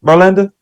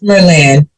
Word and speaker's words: Merlin: home girls they said am I pronouncing your name right Belinda I'm way off right I don't like chopping nobody's name up how you pronounce it it's Merlin Merlin okay Merlin okay okay